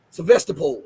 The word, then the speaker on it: Sevastopol: Remember the strike in Sevastopol, or I forget how to pronounce Sevastopol or Sevastopol. That's what it is, Sevastopol.